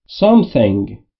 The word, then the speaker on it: something: Something یعنی چیزی. دوستان به تلفظ TH در something توجه بفرمایید. لبها پشت دندون بالا و سعی میکنید بگید سمیه یا سین. میشه سه. Something.